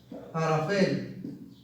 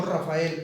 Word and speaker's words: arafel: Firmamento, pero lo que conocemos como niebla, bruma o nube es la palabra arafel. Arafel, no Rafael, arafel es la palabra en hebreo para niebla.